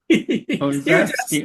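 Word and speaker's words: Korzybski: Then I can look at what, I don't know how to pronounce his name, Greg Bateson. Cedric? Korfsky? Yeah, Kozlowski. Kozlowski, okay.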